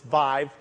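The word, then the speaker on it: Viiv: example of this with Vive. I got used to saying it right. It rhymes with 5 and live, so don't make a mistake if anyone from Intel is around. It's Vive.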